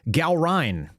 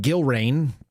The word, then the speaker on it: Gallrein: Uh congratulations to US Navy SEAL Ed Gallrein, which is how you actually pronounce it, not Gilrain, or Gilron.